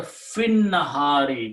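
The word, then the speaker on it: في النهار: And you read together fin nahari, because lam was not pronounced to begin with, but now you do not pronounce this ya or alif.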